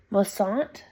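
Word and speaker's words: Moisant: I believe you pronounce it Mossant.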